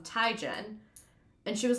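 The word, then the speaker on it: Teigen: I actually saw a thing where Chrissy Tegan was like, "Everyone calls me Chrissy Tegan, but it's actually Chrissy um Tyen."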